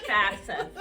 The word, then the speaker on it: FAFSA: It is FAFSA, free application for federal student aid.